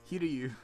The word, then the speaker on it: Hiryu: Like, Hiryu. I'm saying it correctly.